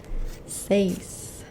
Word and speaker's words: seis: Seis. S-E-I-S. Seis. 6. Seis. Like she says. Well, it's not the same, but she says and she says.